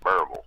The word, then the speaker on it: Berryville: I have Everybody down here pronounces it Barble. Uh-huh. Not Berryville.